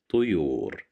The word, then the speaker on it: طيور: Here we have the little ta controlled by the sound of dhamma at the top of the little ta, so we pronounce it as tu, tuyur.